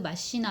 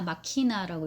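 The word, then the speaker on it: machina: 기계 타고 내려온 신이다 해서 데우스 엑스 마시나 마키나라고 읽어야 되죠.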